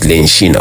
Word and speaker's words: Lenshina: Due to my Bemba heritage, people back then couldn't pronounce Regina, hence they said Lenshina, which means queen.